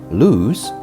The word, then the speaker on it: lose: quite easy to distinguish lose pronounced with a zed sound is a verb meaning